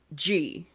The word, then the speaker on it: Gee: his name is Richard G. In some of the videos I watched, they pronounce it Gee because it's spelled G-E-E. But in the Australian, like, documentary, they pronounce it G. So Justice G.